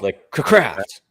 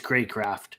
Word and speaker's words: Craycraft: It could be pronounced like Crackraft. It is Craycraft.